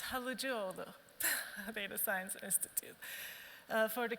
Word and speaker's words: Halıcıoğlu: And she's a fellow of the Halseyoglu Data Science Institute. And Ilkay, who's Turkish, can come up here and pronounce that correctly for me.